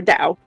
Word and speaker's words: Tao: taoism i really i'm or dao depending on how you want to pronounce it but yeah i'm a